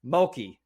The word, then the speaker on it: Mulkey: Mulkey. I look at it and I'm like, is that like murky, but with an L?